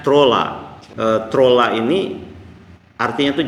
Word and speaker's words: Troole: bawahnya itu menulis ataupun spellingnya ataupun penyebutannya trole gitu ya Eh dibacanya truly kan ee saya cari lagi ee ternyata kedetek itu bahasa Estonia dibacanya trolla Eh trolla ini artinya